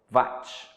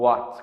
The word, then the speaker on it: Watt: é mesmo potência elétrica a unidade de medida é o Bate ou Whats Como tem gente né só pronúncia que muda fala da mesma coisa